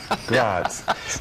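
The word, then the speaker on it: Graz: F it's fryborg but over there it is spelled g r a z right gr GRS grats but you know it's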